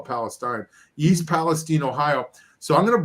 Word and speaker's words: East Palestine: uh yeah you correct it it's always been pronounced East Palestine as far as I know okay um but